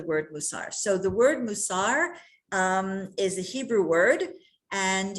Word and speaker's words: mussar: and sometimes it's called mussar that's when it's there it's it's it's yiddish um iteration but musar because the hebrew language always has the accent of the last syllable is what it's called